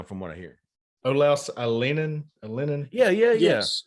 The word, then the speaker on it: Alinen: Olaus Alinen. Yeah. Yes. Alien.